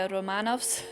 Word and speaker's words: Anastasia Romanov: That's [*American pronunciation] Anastasia Romanov's - or, I guess -[*proper Russian pronunciation] Anastasia Romanov's dad by the way.